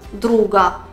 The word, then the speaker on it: друг: Друг – друга. Друг – звук К, друга – звук Г.